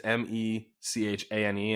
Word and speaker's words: mechane: It's actually different from machine. It's MECHANE, and I did look it up, and it's machine.